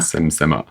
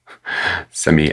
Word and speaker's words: Simi: I mean, I wouldn't pronounce it any other way, would you? Simi, Simi, S-I-M-I.